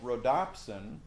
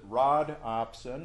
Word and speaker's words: rhodopsin: and the rod that's called rhodopsin some people pronounce it rod opsin which makes sense because it's in the rod but rhodopsin is more